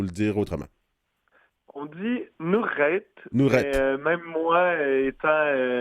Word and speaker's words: Nurrait: Est-ce que j'ai prononcé comme il faut Nurette ou il faut le dire autrement? On dit Nourette, mais Nourette.